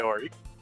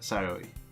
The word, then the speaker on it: Sayori: That girl is Sayori, as you pronounce that? Sayori. Is that how I pronounce it? Sayori.